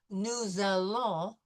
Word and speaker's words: nous allons: So we will focus on also too when we have nous followed by a vowel, nous allons, this S will become a Z sound.